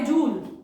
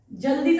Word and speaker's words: Joule: एंड क्योंकि ये phenomena was discovered by जूल और जाउल, pronunciation depends on यू, तो this is also known as जाउल्स लॉ of heating.